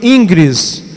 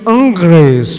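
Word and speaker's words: Ingres: por um pintor chamado Dominique ingris a pronúncia em francês seria Dominique angres meu francês não tá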